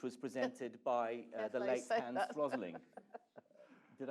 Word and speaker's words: Hans Rosling: of Stats, which was presented by the late Hans Rosling.